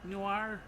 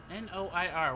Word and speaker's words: noir: Hi Mr. Newir newer N O I R. What is that? Is that Noir? I don't think that's N O I R is Noir.